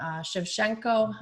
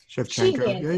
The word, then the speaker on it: Shevchenko: Shevchenko. Am I saying it right? Shevchenko.